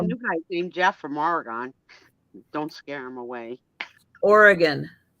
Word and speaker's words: Oregon: Kathy, we have a new guy named Jeff from Oregon.